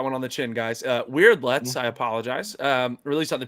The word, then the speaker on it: Weyrdlets: No, it's Weirdlets. It's Weirdlets. They're weird looking creatures, so they call them Weirdlets. You know what? I'm gonna take that one on the chin, guys. Weirdlets.